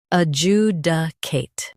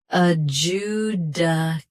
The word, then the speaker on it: adjudicate: Adjudicate. Both US and UK have the same pronunciation of this word. Stress. U. Keep duh soft. End with Kate. Adjudicate. Adjudicate. Stress. U. Keep duh soft. End with Kate.